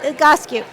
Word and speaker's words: Egoscue: exciting for me um but tell us about igascu yes first of all thank you for saying it correctly because you will all be tested on the spelling and the pronunciation but a gosku is a gentleman named Pete egosque where coming